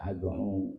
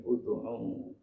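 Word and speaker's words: اُدْعُ: Kataku, jangan baca ad'u, bacanya ud'u.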